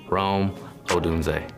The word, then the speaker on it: Rome Odunze: It's fun to see the different ways that people pronounce it, but for the record, Rome Odunze.